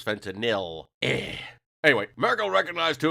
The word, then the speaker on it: fentanyl: some pronunciation practice sir it is not fentanyl is fentanyl a anyway Americo recognized